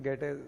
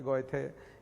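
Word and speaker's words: Goethe: मैंने पहले भी बताया गेटे और स्पेलिंग तो जीओ टी एच इस तरह से गोते टाइप आता है लेकिन गेटे हिंदी में गेटे बोलते हैं बाकी गोएथे या कुछ भी बोल दीजिए जब आप पढ़ेंगे मैक्स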